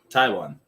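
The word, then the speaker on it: Taijuan: Taiwan. And I have been mispronouncing your name for years, good sir. Just figure, whenever you see T-A-J-U-A, just T-A-I-W-A-N. Just pronounce it like you would the country.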